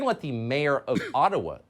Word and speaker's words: Ottawa: let the mayor of ottawa or otawa as it's correctly pronounced in a jibba explain why peaceful truck